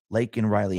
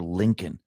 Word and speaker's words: Laken Riley: And actually, Marjorie Taylor Greene, she had a scream at Biden, and she continually said, say her name, Lakin Riley. Actually called her Lincoln.